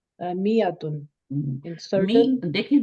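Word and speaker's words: مائة: Note that is miyatun, the alif is not pronounced. It is pronounced miyatun in certain.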